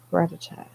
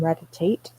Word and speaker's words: Rattata: Um, Also, I learned that what the okay, Rattata and Aloha Rattata. They used to call him Ratatate. I don't know why, but I'm pretty sure I was pronouncing that wrong the whole time.